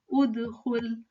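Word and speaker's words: ادخل: So this Hamzatul Wasl is just silent if you are continuing. You're not stopping here. But in case you stop here, then I'm going to see my second letter and I'm going to pronounce this as udkhul, udkhul.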